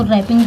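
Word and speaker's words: wrapping: इसको रैपिंग पढ़ते हैं यहां पे अगर आर के पहले डब्लू आया हो कभी भी तो आपको डब्लू का प्रोनंसिएशन नहीं करना होता है डब्लू यहां पे साइलेंट हो जाता है अगर आर के पहले डब्लू आया है तो आर साइलेंट रहता है तो रैपिंग पढ़ेंगे ठीक है तो अनरैपिंग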